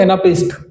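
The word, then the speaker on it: anapest: इसका correct pronunciation होता है एनापिस्ट।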